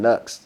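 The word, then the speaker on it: Knucks: there's a dude named Nu that has a song called Leon the Professional Nu is spelled k n u c KS ah it's a beautiful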